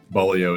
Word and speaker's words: Beaulieu: said it correctly, but Bolio is how you say your last name. I got caught in uh in the first week where it's not the traditional uh spelling of how I know how to say Bolio.